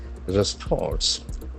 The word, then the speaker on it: response: Response. Response. R-E-S-P-O-N-S-E. It's a beautiful verb. Response. The accent falls on the second syllable, response.